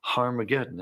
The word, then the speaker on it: Harmageddon: aspirant at the beginning meaning it's pronounced with an H so it originally was harmageddon and you can get